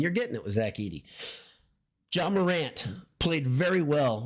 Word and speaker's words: Edey: He doesn't know how to pronounce Zach Edey. He called him Edey over and over and over. Zach Edey.